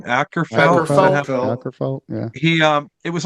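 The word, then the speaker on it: Åkerfeldt: Ackerfeld, yeah.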